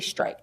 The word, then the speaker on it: Strite: In my place of employment, I had a boss who constantly called me Officer Street, Officer Street, Officer Street. It's actually Strite. Strite is the correct pronunciation of my last name.